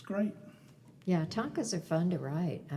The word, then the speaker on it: tanka: Yeah, tankas are fun to write. I mean, or I should say tanka. You don't put the tanka are fun to write.